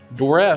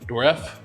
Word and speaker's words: Dourif: And Brad Dourif, I think that's how you say his name, right? Dourif.